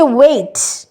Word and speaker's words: weight: Next হচ্ছে ওয়েট, WEIGHT আছে, কিন্তু GHTর কোনো প্রোনাউন্সিয়েশন নেই কিন্তু, তাই না? WEIT প্রোনাউন্স মানে ওয়েট হচ্ছে, হ্যাঁ, জি এর কোনো প্রোনাউন্সিয়েশন হচ্ছে না।